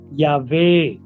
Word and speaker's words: Yahweh: pronounce this uh umatone the right way to pronounce it is Yahweh how do we know that